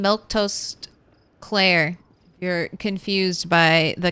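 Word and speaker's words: Milquetoast Claire: Uh, just so you know, I say my name, Milktoast Claire.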